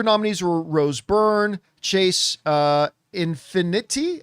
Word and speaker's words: Infinity: The other nominees were Rose Byrne, Chase Infinity. I'm sure I'm mispronouncing that last name. You got it, Infinity.